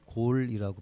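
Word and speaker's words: Galle: 드릴 곳이 갈래 이제 영어로 뭐 그래서 갈래라고 하고요 이제이 현지 분들은 골이라고 발음을 하더라구요 그래서 이제 여기는 그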